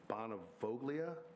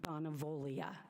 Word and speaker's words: Bonavoglia: My name is Bonavolia. It is, Bonavolia, B-O-N-A-V-O-G-L-I-A, and that doggone G is silent.